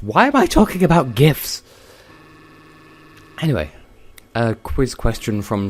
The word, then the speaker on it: GIF: It's sort of like the whole GIF controversy, except it's GIF because the G stands for Graphics Interchange Format, so not Giraffics, therefore GIF. Also, Obama has confirmed as much. Why am I talking about GIFs?